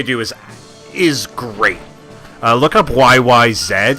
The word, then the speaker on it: YYZ: Oh, it's pronounced YYZ, my friend. Anybody who pronounces it YYZ is lying. And the reason why, besides the fact that they're Canadian and therefore the proper pronunciation, that symbol introduction at